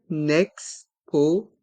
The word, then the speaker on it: exposition: festival une exposition une exposition dans le mot exposition on fait la liaison avec le N de et le son ex avec les deux lettres e et X le E de une est mué une exposition une exposition